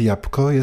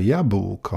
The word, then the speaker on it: jabłko: Znalazłem potwierdzenie, że „jabłko” to poprawna wymowa, podczas gdy „ jabłko” (przez p) jest jednogłośnie określane jako hiperpoprawne.